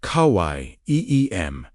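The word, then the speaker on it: חיים: Hayim, pronounced Kawai, Eem, means living or life.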